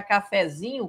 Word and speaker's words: cafezinho: Eu vejo muita gente colocar cafezinho com acento. Não, pessoal. A sílaba tônica é o zin.